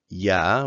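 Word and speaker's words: ㅑ: So here we have ya, which is pronounced exactly the same as ya. It's basically in English when somebody says, "Oh, do you want something?" and you say ya, it's exactly like that.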